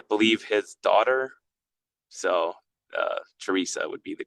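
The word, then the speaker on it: Theresa: Um, so if you come visit our uh retail store in Teresa, so there's a couple different pronunciations of our village. It's Theoressa or Teresa, whatever you prefer, but the correct pronunciation is probably Teresa.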